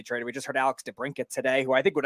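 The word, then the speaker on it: DeBrincat: so you know Speedy the t is silent it could chuck thank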